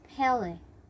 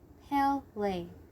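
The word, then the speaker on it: Pelé: At first, she wanted to be nice and so tried to correct their pronunciation. It's Pele. Pele.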